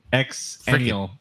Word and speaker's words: Xennial: Oh, like Zennial, Exactly what I said. like Xanadu.